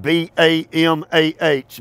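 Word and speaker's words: במה: If you are wanting to learn Hebrew, the word is spelled B-A-M-A-H, Bama, and it means heights.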